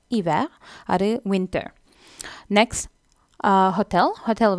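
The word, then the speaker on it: hiver: ஸோ அந்த H sound இல்லை, ஹீ வேர்ன்னு சொல்கிறதில்ல, இவே தான் சொல்கிறேன், இவே.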